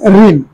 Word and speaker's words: ঋণ: ঋণ। আসলে ঋ শব্দটা আমরা লিখি স্বরবর্ণের মধ্যে, এটা আসলে র, ব্যঞ্জন বর্ণের র, বয় শূন্য র এর একটা রূপ। ঋণ উচ্চারণ হবে এটা।